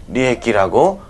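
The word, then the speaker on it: 利益: 그러면 이거 어떻게 읽는데 하는 거죠. 어떻게 읽어요? 리에키라고 읽는다, 이런 거죠, 이런 거.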